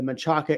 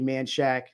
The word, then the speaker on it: Menchaca: investment property in the machaca area sorry manshack texas man um it's spelled menchaca okay i'm sorry i